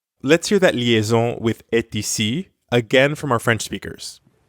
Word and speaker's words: est: of other French words you don't normally pronounce the final letter t instead you just say e unless the word that